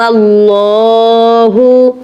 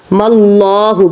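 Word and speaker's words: الم الله: अलिफ लाम मीम अल्लाहहु मल्लाहु कहना है। गौर कीजिएगा। मल्लाहु अल्लाहु नहीं मल्लाहु और पुर करना है आपने अल्लाह के नाम को।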